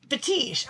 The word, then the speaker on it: Fetiche: Put the E on the end and an accent on the I. And he's like, Fetiche.